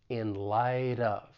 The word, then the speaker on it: in light of: final T in light because it comes between two vowel sounds with the American accent I am going to pronounce it as a flap T and then I can